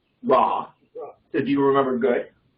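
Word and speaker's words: רע: In English pronunciation, raw.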